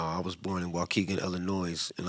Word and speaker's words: Illinois: was born in Waukegan Illinois and I pronounced the s in Illinois I don't care what